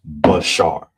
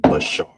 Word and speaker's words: bashar: So it will be pronounced bashar. So that you know how to say it, bashar.